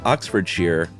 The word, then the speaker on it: Oxfordshire: Shire like wire but when used as a suffix it's uh it rhymes with beer so Oxfordshire Worcestershire obviously instead of